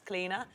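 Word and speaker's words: Clíodhna: it's actually my middle name as well it's cleaner we got what your middle name is cleaner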